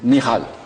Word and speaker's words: Michal Govrin: Michal. Voilà, c'est la prononciation hébraïque.